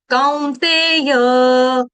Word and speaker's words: कौन्तेय: एतैर्विमुक्त, ठीक है, कहाँ पे मैंने कैसे लिया, एतैर्विमुक्त कौ, कौन्तेय, य का उच्चारण पूरा, कौ, कौन्तेय, कौन्तेय नहीं, काउ, ठीक है, काउ, COW, काउ।